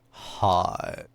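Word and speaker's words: Hut: to think of it said like hot you know like Paris Hilton like yeah like that's hot yeah yeah probably something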